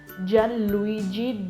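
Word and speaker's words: Gianluigi: rumah Hai ajon Luigi Kenapa gue bilangnya Jan gajian karena kalau gi ad18 a Itali itu nyebutnya Jah jah jadi kayak ini tuh silent gitu Jadi bukan Jan lugi tapi jandu Story bukan Jadi lu ghizan Luigi Jan Luigi Donald rumah oke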